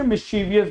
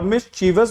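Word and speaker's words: mischievous: तो सही प्रोनाउंसिएशन ना मिस्चीवस, okay, C will be the correct spelling, ठीक, समझ गए। तो बेटा ए नहीं होगी क्योंकि मिस्चीवियस नहीं है, मिस्चीवस है, सही से बोलना, सही हो जाएगा।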